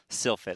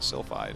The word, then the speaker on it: Sylphid: season of ASL so Sylphide I'm glad our robot voice in the sky can pronounce it correctly I thought it was so fit I'm like why is he calling sulphide I have old habits die